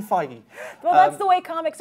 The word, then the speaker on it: Feige: this this is see it looks like it should be Kevin fagee the way his name is spelled I think it's fagee with beige no it's Kevin feig well that's the way